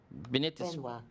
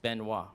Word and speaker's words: Benoit: Benit is pronounced Benoit, right?